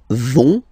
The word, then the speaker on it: vont: So, ils vont, final T, not pronounced.